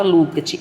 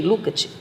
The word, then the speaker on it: Lukács: Eu tinha um professor que chamava Lukács, eu achava tão bonita a pronúncia dele, Lukács, né? Mas o pessoal chama Lukács.